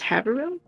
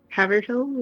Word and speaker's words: Haverhill: I don't know what you're going to think about this or not, but Really, that one's pronounced Haverhill instead of Haverhill or Haverhill or something like that.